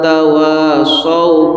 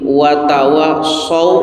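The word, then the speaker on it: وتواصوا: bilhaqqi wawu baik sadaqallahuladzimallahuladzim banyak orang kepleset baca dalam surah al-hasr adalah di wattawa dibaca wattawa Ada lagi yang watwu bil haqqi watwa haqqi watwa banyak yang baca watwa bilhaqi itu salah sama termasuk wailus shihati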